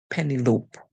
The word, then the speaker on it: Penelope: together l penel l so we have penel o because the e at the end silent whenever e at the end silent the vowel that comes before the consonant most of the times it would make a long song that's why it calls its own name so for this we